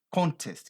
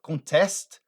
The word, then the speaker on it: contest: concurso de beleza concurso mas quando você muda a pronúncia dessa palavra e joga a ênfase para frente e fala contest Olha é igual a anterior contest contest então ela passa a ser uma outra palavra que o verbo contestar olha para você